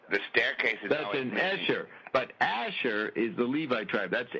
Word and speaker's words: Asher: that's an aser Bob says aser we say Asher because it actually applies into one of the tribes of Israel one the original 12 tribes well actually there's 13